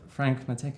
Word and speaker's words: Franke-Matthecka: So I'm very excited today to have Matthew Berti, aka Maddie Snaps, joining, Aidan Tobias from the studio, and Gustav Franke-Matthecka. Is that how I pronounce it?